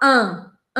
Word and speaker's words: un: Esse un se escreve un, un, un, un. E eu não posso fechar minha boca na hora de pronunciar isso. Eu preciso deixar minha boca entreaberta. Imagina que tem uma caneta aqui, ou o seu dedo mesmo. Un, un. A minha língua não pode encostar nos dentes.